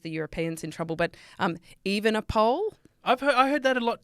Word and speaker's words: Evenepoel: Not just the Europeans in trouble, but Evenepoel. I heard that a lot too. Evenepoel. Evenepoel. No, he's not a pole. He's not, definitely He's not even a pole.